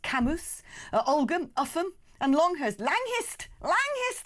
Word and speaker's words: Cambois: Cambois or Cambois, pronounced Camus.